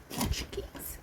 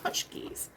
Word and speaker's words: pączki: let me get one of these Apple punchies punchies I like saying it now that I know how to pronounce it it's fun to say okay now